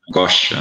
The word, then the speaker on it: angoscia: até bonita de falar, angoscia, né, que fala em italiano, angoscia, né, certo, né, a pronúncia é essa mesmo.